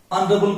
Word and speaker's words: honorable: अब देखो ये साइलेंट हो गया ऑनरेबल, अब आर के बाद ए इसलिए आर भी प्रोनाउंस करेंगे, और ए भी हो गया अबल, ये क्या हो गया अबल।